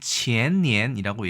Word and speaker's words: 前年: 자, 이 글자를 중국에서는 qiannian이라고 얘기를 하는데요.